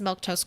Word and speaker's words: Milquetoast: this real quick uh my name is milk toast CLA if you're wondering how to pronounce it that's how you do it I stream normally Monday